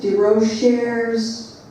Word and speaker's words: DeRocher: It's by Cherish de Rochers de Fados.